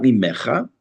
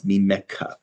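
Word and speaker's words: ממך: and an a sound, it's pronounced ka, not cha. So it's not mimecha, it's mimeka. It's as if there were a kaf and a hey at the end of the word.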